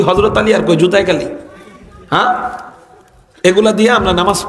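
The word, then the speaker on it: قُلْ: কোরআন সহি করে নাই, অনেকে কফ উচ্চারণ পারে না, সে কুল হু আল্লাহু আহাদ পড়তে পারে না, সে পড়ে কুল হু আল্লাহু আহাদ। কফকে কাফ দিয়ে পড়ে, কি দিয়া?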